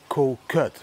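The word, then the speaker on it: Kood: Thailand there's an island called coot you pronounce it like Kut but if I say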